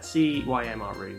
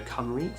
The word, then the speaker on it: Cymru: Something like that, Cymru, which if you said it in Welsh, is actually Welsh if you go Cymru, so I don't think it's